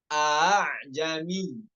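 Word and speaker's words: ءَأَعْجَمِيٌّ: Terkait tashil selanjutnya nomor 68 dibaca A'jami. A'jami. Ini hanya satu cara baca aja ya. Nggak boleh tahqiq. Dua-dua hamzanya nggak boleh tahqiq. Hamzah yang pertamanya tahqiq, yang hamzah keduanya tashil. Itu cara yang benar.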